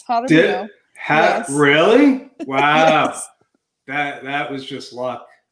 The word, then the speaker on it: Jaramillo: Her real name is Nicolene Jaramillo. Okay, Nikki, can you help me with that? You said it right, Joe. Yeah. It's Jaramillo.